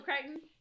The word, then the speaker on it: Crichton: Crichton. I don't know how do you say his Yeah. name. Michael Crichton.